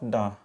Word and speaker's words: the: देखिए, modern English में द को प्रोनाउंसिएशन में दा भी बोला जाता है और डी भी बोला जाता है। जब हम स्पीच की भाषा बोलेंगे ना, तो कोई मॉडर्न इंग्लिश या अमेरिकन इंग्लिश में डी का यूज़ ज़्यादा होता है।